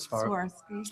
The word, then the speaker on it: Swarovski: How do you pronounce that? Swarovski.